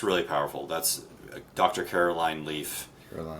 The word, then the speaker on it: Leaf: Like leaf, like spelled like leaf.